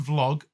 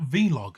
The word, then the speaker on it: vlog: So a number of people have asked, do you know it's pronounced vlog and not vlog?